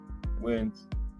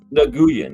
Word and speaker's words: Nguyen: I know that is right because there used to be a guy playing for the Dallas Cowboys named Dat Win. Remember him? Didn't have a W nowhere in his last name, but it said Dat Win.